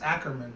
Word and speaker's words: Ackerman: I think it's Ackerman. Right, I was right.